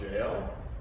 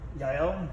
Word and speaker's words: Jael: He has a recent book, and I never pronounce this correctly, The Riddle of Jael. Yael, yep.